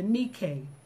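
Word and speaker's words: νίκη: It spelled like Nike, but this is the nikay that overcomemeth the world, even our faith.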